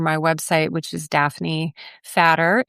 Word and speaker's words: Fatter: So I'm happy to share my website, which is Daphne Fatter. It's actually spelled like it sounds.